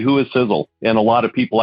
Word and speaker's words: Sisel: there in the name sizzle is spelled s-i-s-e-l for a lot of people they spell it s-i-z-z-l-e and i'll tell you what it's all it's not correct so s-i-s-e-l but the